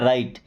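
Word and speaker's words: write: राइट, क्योंकि डब्ल्यू के बाद अगर आर आ जाए तो फिर डब्ल्यू साइलेंट हो जाता है।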